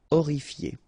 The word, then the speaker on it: horrifié: You don't pronounce the H. Horrifié.